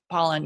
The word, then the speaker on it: Pollan: Is it Pollan or Poland? I always want to say his name wrong, but Pollan, yeah, from the food rules.